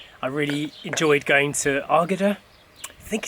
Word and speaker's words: Águeda: I really enjoyed going to Águeda. I think it's Águeda. We're still not 100. Águeda. Águeda. Yeah, like I said earlier, we've always said Águeda, but apparently you don't pronounce the U, according to Sophia, our Portuguese teacher.